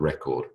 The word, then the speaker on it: record: he broke the world record record record is a noun emphasis on the first syllable but record on the second syllable to record your voice I am recording this video record is a verb all right here are